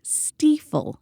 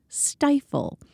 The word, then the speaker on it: Stiefel: It's the Stiefel Killington Cup. It is pronounced Stiefel, not stifle.